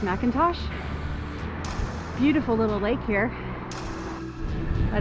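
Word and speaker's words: McIntosh: it could be mcclintosh that's how it's spelled but usually that's pronounced Macintosh beautiful little Lake here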